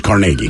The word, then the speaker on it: Carnegie: in here they say the yinzer pronunciation as in Pittsburgh Carnegie correct Carnegie it is Carnegie okay what's this guy's